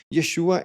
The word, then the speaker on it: Yeshua: Yeshua é como os gregos pronunciavam e Yahoshua é como o hebreu pronunciaria.